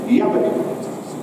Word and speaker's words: Jabbok: But this strange event takes place where at the river Jabbok. Now, in Hebrew, Jabbok, this would be pronounced with a Y instead of a J, Jabbok, is very similar to Jacob.